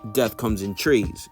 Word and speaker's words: Death Comes in Threes: touches on why uh the name death comes in threes now pronounced death comes in trees you feel me but